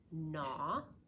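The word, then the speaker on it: gnaw: when you have GN it can come at the beginning of a word like the word na which means to chew it can also come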